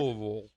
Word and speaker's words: Louisville: Louisville. You gotta swallow the whole name. Rapper talk. Louisville. Dude, One syllable.